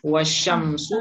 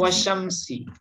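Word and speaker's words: وَالشَّمْسِ: Wasyamsu atau wasyamsi? Wasyamsi. Wasyamsi ya. Kenapa dibaca kasrah? Huruf nida. Nah, karena dia diawali oleh waw qasam.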